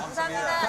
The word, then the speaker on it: 감사합니다: thank you 감사합니다. again? 감사합니다.